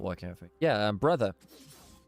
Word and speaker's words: Breathe: Yeah, brother. That's how you pronounce it, actually. It's the Mandarin pronunciation of Breathe.